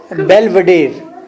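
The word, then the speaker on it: Belvedere: Eight colon Gauss, letter eight बेलवेडेर, घबराए नहीं, यही प्रोनाउंसिएशन है इसकी, बेलवेडेर कॉलेज।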